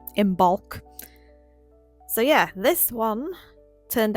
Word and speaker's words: Imbolc: Or IMBOLC as I've heard people pronounce it, but there's a B in there so I say IMBOLC.